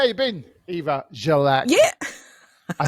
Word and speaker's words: Grzelak: So how you been, Eva Grzelak?